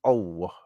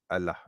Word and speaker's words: Allah: um you know um pick up the the silent l so that it's pronounced as oh not Allah because um it has